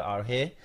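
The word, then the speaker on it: ἀρχή: Ya la palabra clave es la palabra arche, que es escrita o se pronuncia arge, y ya dimos el significado.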